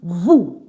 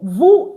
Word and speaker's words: vous: So, vu is you. All right. The S is not pronounced at the end.